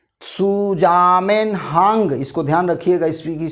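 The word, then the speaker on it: Zusammenhang: सुजामेनहांग, इसको ध्यान रखिएगा, इसकी स्पेलिंग है ZUSAM हांग, ये है दोस्तों।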